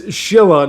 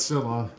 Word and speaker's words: Silla: Anyway, so it's Shilla, not Silla. Mispronouncing it. Sorry about that.